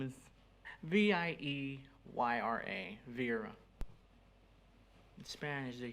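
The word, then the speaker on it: Vieyra: Vera just as a sound z-o-o-m uh no it's spelled differently using um okay and your last name is v-i-e-y-r-a Vera in Spanish they say Vietnam thank you will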